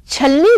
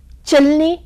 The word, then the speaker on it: छलनी: में या बोलते समय जैसे छलनी जो है वह चलनी बन चुका है इसके बदलने का भी यही कारण है पर इन सभी त्रुटियों